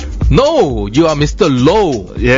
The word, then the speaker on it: Low: No, you are Mr. Low. Yeah. You cannot say Mr. L-O-W is pronounced as low.